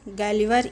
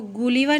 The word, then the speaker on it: Gulliver: GU है, इसको गुलिवर नहीं पढ़ना है, इसको GU, इसका प्रोनाउंसिएशन क्या होगा, गलिवर।